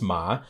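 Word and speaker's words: 妈: And so the pronunciation of this was ma. And so the thing that had to do with women that sounds like ma means mother.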